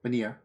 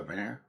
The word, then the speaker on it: Vanir: In Norse mythology, the Vanir, actually tells you how to spell it. Yeah, that's how you say it. Vanir, yeah. Singular Vanir.